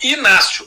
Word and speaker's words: Ignácio: o próprio Inácio né que eu chamo de Inácio porque esse G para mim é g mudo é exatamente a não